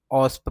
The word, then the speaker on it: OWASP: इसे तुम ऑस्प प्रोनाउंस कर सकते हो लाइक ऑस्प।